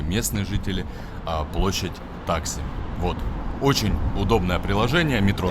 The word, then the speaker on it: Taksim: И, кстати, да, друзья, везде, конечно, все привыкли Таксим, и все будут спорить и с пены у рта доказывать, как в турецком языке все ставится на все ударения на последний слог. Но, когда вы сами сядете в метро, либо в автобус, и вы сами своими ушами услышите «Геледжек Истасьон Таксим». Ну, поэтому и я тоже